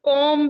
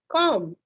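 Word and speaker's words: comb: all say it's plumber there is be silent bomb com I say it's not com it's com yeah I even try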